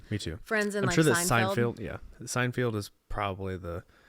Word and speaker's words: Seinfeld: Seinfield is probably the is it Seinfield or sein say I feel like weeren pronouncing that different I think it's it's SP field but I think it's pronounced Fel yeah I think it is yeah Seinfeld yeah yeah anyway um I